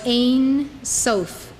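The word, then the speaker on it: Ein Sof: used to describe god prior to creation was ain sofe write it down it is spelled in two words e-i-n then s-o-f ain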